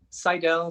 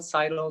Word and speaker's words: Seidel: well how are you i think you're my friend seidel citadel seidel somewhere around there we don't even know how to pronounce it i don't think like i think there's debate in our family like what's the proper way to say it so yeah you you you did it just perfect so yay so for